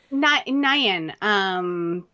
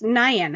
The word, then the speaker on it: Nguyen: Nayan, we had a set of twins that were that's the last name, and I think that's Nayan, how that's how you pronounce it.